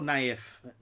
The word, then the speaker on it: Naif: I'm doing very well, Naif. Yes, that's it, is how I pronounce it, Naif.